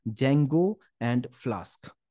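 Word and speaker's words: Django: कि हम कहते हैं जंगो एंड फल स्क अच्छा यहां पे डी जंगो नहीं है डी जो है साइलेंट है इस बात पे ध्यान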